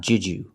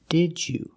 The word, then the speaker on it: did you: they would say it in Connected speech we cannot say J you like the movie it's not juu it's Didu so we pronounce the first d as a real d d d DJ the second D changes to the J sound like juice and jump so together did you